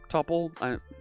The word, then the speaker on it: tuple: a tuple which is you'll hear some folks refer to it as a tuple tuple topple looks like double so i use the same tuple the same u to pronounce it so a tuple can